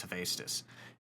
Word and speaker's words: Hephaestus: I always say Hephaestus, but I believe it's Hephaestus.